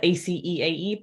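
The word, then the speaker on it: -aceae: All family names end in ACE, spelled ACEAE, pronounced as though you are spelling the word ace, ACE.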